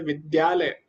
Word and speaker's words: विद्यालय: होता ही नहीं या कई लोग इसको घ घ पढ़ते हैं लोगों को लगता है घ है लिखने में क्योंकि दिखने में तो घ जैसे ही लगता है लेकिन ऐसा नहीं है द के नीचे या जैसा आप देखो द है उस पर ही या स्टार्ट हो जाता है तो इसीलिए विद्यालय ऐसा हो जाता है द्या